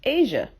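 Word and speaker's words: Asiha: So I was just scrolling and scrolling and scrolling, and I saw Rest in Peace, Asia.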